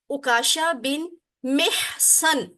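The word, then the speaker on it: عکاشہ بن محصن: نام کی پرونانسیشن ہے اکاشا بن محسن.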